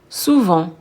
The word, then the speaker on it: souvent: Souvent, often, often. Et oui, on ne prononce pas le T.